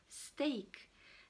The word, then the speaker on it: steak: Vous avez un même groupe de lettres, d'accord, comme E, A, I, E, qui peuvent se prononcer de façon différente. Par exemple, steak, d'accord, on a E, A, steak, d'accord, comme dans l'exemple, cut the steak for the barbecue.